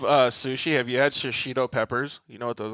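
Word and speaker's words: shishito: you guys go out to Sushi ask for shashido Peppers it's like Shido peppers like that's how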